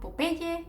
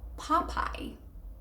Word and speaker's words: Popeye: Well, I'm afraid to tell you it's not Popeye, it's Popeye. I know. Of course, in English, when you see pop and then I, it's Popeye, Popeye.